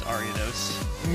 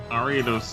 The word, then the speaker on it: Ariados: Ruby, I believe that we put different emphasis on different syllables of that spider. I think I just mispronounced it. It's Ariados. No, not necessarily. I think it can be both, but it's like if you're going more traditional-ish, you would space things out differently than the way we pronounce it typically.